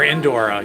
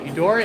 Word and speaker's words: Eudora's: Or Indora. Eudora, Indora? I forget how to say it. How do you say the name of the store? Is it Eudora, Indora?